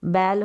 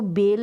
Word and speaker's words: बैल: अब इसको बेल नहीं पढ़ेंगे, बैल पढ़ेंगे, यानी कि ए और ए बोल दें या आई बोल दें, दोनों तरीके से इसका उच्चारण किया जाता है। अगर ए बोलेंगे तो बैल हो गया, नहीं तो बैल, ए आई का साउंड भी आ रहा है।